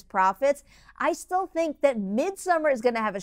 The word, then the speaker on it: Midsommar: five, I have newcomer Midsommar. All right, I've said Midsommar once, I'm going to say it properly now, Midsommar.